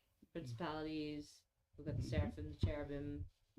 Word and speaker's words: cherubim: we got the saraphim cherubim I totally mispronounced cherubam thank you I mispronounce lots of things.